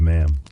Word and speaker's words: ma'am: But it must be the right kind of ma'am. Not the broad flat sound you might be used to, but a clipped precise sound pronounced to rhyme with jam or ham.